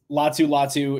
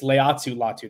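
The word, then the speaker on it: Laiatu: Latu is, or it's Leatu. There's an extra syllable in there.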